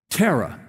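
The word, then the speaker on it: Terah: Tara or Tara yeah Tara would probably be the Hebrew pronunciation we would say Tara because we're Texans you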